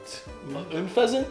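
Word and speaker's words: Unfezant: How did you just pronounce that? Unpheasant? Unpheasant? Like the word unpleasant?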